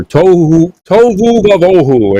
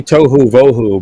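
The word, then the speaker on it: תֹהוּ וָבֹהוּ: fancy Hebrew words here, tohu vavohu, and they all try and say it like that, and it's really tohu vohu, but the va in front of it is an and, so it's like it's a conjunctive vav.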